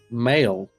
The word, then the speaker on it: Mael: Mael. Yeah, like the word male.